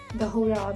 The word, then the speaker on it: Chora: and to the market, the Hora, which is spelled as CHORA, which is the streets and cafes.